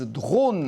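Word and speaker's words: Drawn: ont créé leur entreprise Drone. Alors ça ne s'écrit pas D-R-O-N-E, mais D-R-A-W-N qui signifie dessiner en anglais.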